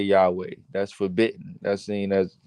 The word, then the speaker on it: Yahweh: sounds it's really yo Highway that's how you pronounce that Yahweh Yahweh yesu yesu yeah well that ain't how you